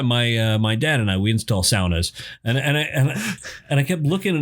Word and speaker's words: sauna: Or as they would say, a sauna. Yeah. That's the proper way to pronounce it.